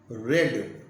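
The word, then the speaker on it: read: बन जाएगा I have रेड, रीड, रेड, रेड, रीड के तीनों फॉर्म एक ही होते हैं, रीड, रेड, रेड, तो और उसका प्रोनाउंसिएशन रेड हो जाता है थर्ड फॉर्म सेकेंड फॉर्म का।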